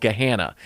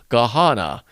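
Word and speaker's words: Gahanna: We have a suburb here called Geahana. And if you type in Geana, what you'll get in a texttospech voiceover is Gahana. And you just know, okay, that's AI and it's wrong.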